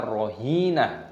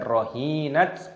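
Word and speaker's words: رهينة: matopi'i, panjangkan dua ketukan, tak marbutoh dimatikan ketika tanda waqaf diganti menjadi hak, maka dibaca rohinah, bukan rohinat ataupun rohinatun.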